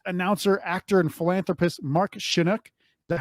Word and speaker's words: Shunock: We're only speaking with Canadian-born Las Vegas legendary host, announcer, actor, and philanthropist Mark Shunock. Is that how you pronounce it, Mark? That's it. Mark Shunock works for me.